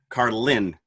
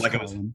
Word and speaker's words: Carlin: Carlin is how he pronounces it. The emphasis is on the Lynn, Carlin, rather than, George Carlin.